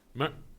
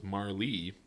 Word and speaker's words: Marle: Had a friend who insisted I was wrong, and the official correct pronunciation was Marlee. But then the one directly above it says the E is silent, and it's Marl. Like Marl.